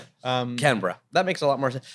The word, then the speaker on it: Canberra: can add sure right Ashley how do we pronounce oh yeah cuz you're Australian right Canberra we're just beginning brick Canberra Canberra thank you for making sure we we